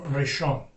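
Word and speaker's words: ראשון: And it's Yom Rishon. Wow. Okay. Okay, see this aleph here? In the pronunciation of the word is not doing anything.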